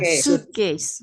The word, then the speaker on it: suitcase: Kita ke sebelah kanan ada tulisan suite tapi bacanya jangan suite ya, bacanya Suitcase.